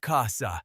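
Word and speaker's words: חסה: The Hebrew word here is Chasah, pronounced Chasah, Strong's H2620.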